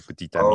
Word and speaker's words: petit ami: But yeah, petit, which is small, and then it's followed by ami, so petit ami. Oh, so there's a T, which wouldn't normally be pronounced.